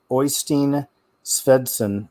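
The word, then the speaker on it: Oystein Svendsen: channel i'll spell it out it's it's it's pronounced oystein svedsen but it's o y s t e i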